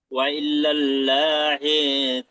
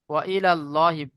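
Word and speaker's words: وإلى الله: ওয়া ইলাল্লাহি লাহি তাও ভুল হচ্ছে, ওয়া ওয়া ইলাল ইল লাহি নয়, ওয়া ইলাল্লাহি।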